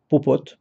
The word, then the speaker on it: Popot: un associé à popo Popot ça se prononce comme ça et puis 4e cheval